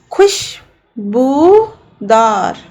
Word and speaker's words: खुशबूदार: खुशबूदार। तो इसमें कौन सी ध्वनि आ रही है? पहले छोटे ऊ की, फिर बड़े ऊ की।